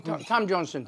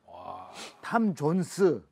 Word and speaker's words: Tom Jones: 그럼 탐 존슨, 딜라일라. 아, 탐 존슨. 탐 존스. 탐 존슨 아니냐. 아직도 그런 거 같고 발음 갖고 싸우고 나는 겨우 쓰는 예.